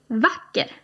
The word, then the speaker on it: vacker: So this is a shorter sound, so "vacker" as opposed to "bra". Yeah. So, you say them... - "Bra", "vacker'.